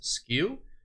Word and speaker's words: SKU: Now, SKU, which a lot of times you'll hear people just pronounce as skew, it stands for stockkeeping unit.